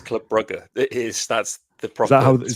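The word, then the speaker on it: Club Brugge: you are you a are you a correct pronunciation man it's it's Club buger is that's the prop is that how is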